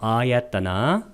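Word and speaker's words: āyatana: 12가지 감각장소 아야따나 아를 길게 발음해야 됩니다.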